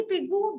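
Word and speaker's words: Pigou: लाया था क्या है ये एस पिगो pronounce it they are also called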